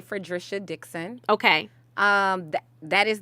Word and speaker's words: Fredrisha: dixon um the ballot is going to say for drisha dixon okay um that is the official name